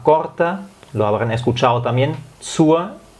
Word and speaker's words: zur: Zur, como termina en R, es como Z-U-A. Dependiendo de la zona, también hay zonas o más bien acentos que pronuncian la R al final cuando es zur.